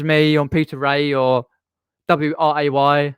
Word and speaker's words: Wray: Or you can private message me on Peter Ray or WRAY because the W is silent.